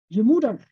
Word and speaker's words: Je Moeder: Je Moeder.